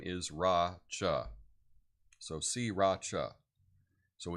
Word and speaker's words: Sriracha: But it's S-E-E, just think of like the sea, or to see, but it's Ra-cha, Sriracha, because it's, I guess, by the sea, and the little village's name is Ra-cha.